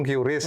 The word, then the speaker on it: QRIS: Bacanya kris ya Om? KRIS. Bukan Iya. QRIS. Ada juga yang ngomong QRIS gitu. Tapi kalau biasa yang kita dengarkan KRIS.